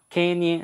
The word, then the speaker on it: Kenyon: um homem chamado é seque é é Quênia Quênia e se escreve Kenyon Kenyon ele nascer 1867 e faleceu